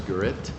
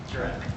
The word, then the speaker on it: Jett: engineering Incorporated uh representative gett or perhaps you'll correct my last my spelling of your last name my pronunciation Jett Jett thank you welcome thank